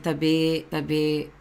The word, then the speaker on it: tabi: don't know tabi um it's pronounced as like this like tabi tabi is like saying excuse